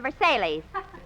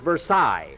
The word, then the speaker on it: Versailles: We went to the Al Morocco Club 18, Leon and Eddies, and the Versailles. Mary, that's pronounced Versailles, not Versailles.